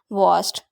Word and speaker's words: worst: वास्ट, WORST, वास्ट। इसमें हमारा ओ जो साइलेंट होता है, वास्ट।